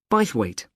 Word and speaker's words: Bythwaite: being held in bythwaite Hall sorry how'd you spell that b y t h w a i t e bite weight is it easy to find I'm not very